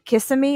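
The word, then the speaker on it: Kissimmee: I think she lives lives in Kissam. Is that how you pronounce it?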